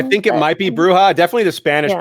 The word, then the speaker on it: bruja: I think it that- might be Bruja. Definitely the Spanish Yeah.